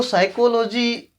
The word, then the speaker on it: psychology: तो दोस्तों देखो, साइकोलॉजी उच्चारण से होता है, हम लिख रहे हैं पी से, यानी ये शब्द यहीं से ही पता चलता है कि कितना मुश्किल होने वाला है।